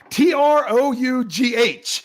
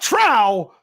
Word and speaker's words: trough: isn't that the word the word is trough t-r-o-u-g-h it is pronounced trough not Trow trough that is actually a it's a word